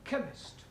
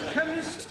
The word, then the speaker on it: chemist: Chemist does not begin with a K. It sounds like it begins with K. C-H. But that is making it chemist. No, the CH is pronounced K.